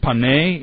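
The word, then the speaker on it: פני: is panim and it's it's uh pronounced pane in the text it's actually the construct form which means face of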